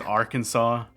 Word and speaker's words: Arkansas: too we have our kansas orchid which is pronounced arkansas all right so yeah yeah that's how you